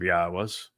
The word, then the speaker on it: Yahweh: But since your opinion is the opposite of Yahweh's, it's obvious that you speak for the very religion God despises. Ask yourself, why? Was I able to ascertain that Yahweh is the proper pronunciation of God's name and prove it?